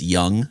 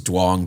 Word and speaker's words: Duong: It's like so it's pronounced in Vietnamese Young. Yeah. And so he was telling everybody it was Duong because it was just how it's spelled and how it looked and it was Right.